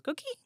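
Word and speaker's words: coquí: It actually says coqui. Yeah, the frog makes that noise. And it's called coqui? Yeah. Cute. It goes coqui. So its name is onomatopoeic. Yes. It's pronounced just like that.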